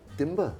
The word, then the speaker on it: Timbre: So then it came up, Timbre. Such a great name. So wait a minute, 2 syllables. Yeah. Sounds like a word. Yeah. It's okay if you call it timber, the other, like wood, it's okay, as long as you come.